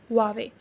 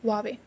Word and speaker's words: Huawei: No, it's Huawei. Okay, it's Huawei. H is a little bit silent here and you will call Huawei.